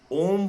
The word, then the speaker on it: ओम: जब हम ओम शब्द का उच्चारण करेंगे, जो कि अ, उ तथा म शब्दों के योग से बना है, अब आप सांस छोड़ते हुए अ तथा उ का उच्चारण करें। म की ध्वनि होंठ बंद कर नासिका से करें, जैसे भंवरा गुंजार कर रहा हो।